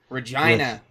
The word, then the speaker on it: Regina: Regina. Like yeah. Saskatchewan. With the Theatro on top. Rhymes with fun.